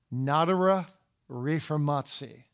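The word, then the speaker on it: Nadere Reformatie: because the Dutch Puritans are actually called the notora reformatsi I'll spell it for you I don't have a chalkboard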